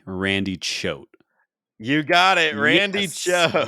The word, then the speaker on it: Choate: And then my final stat was he may not be the Loogie GOAT, but his name at least rhymes with it. Oh, that's good. Randy Choate, the Loogie GOAT.